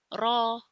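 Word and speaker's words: راء: This is also a soft letter and then is raw. Raw. Here we read it with thick sound, heavy sound. So we read it as raw.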